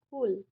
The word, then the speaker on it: Coole: এটাকে আমরা সি ডব্লিউ এল ই এটাকে আমরা উচ্চারণ করবো কুল ওয়াইল্ড সোয়ানস ওয়াইল্ড মানে কি বর্ণ সোয়ানস মানে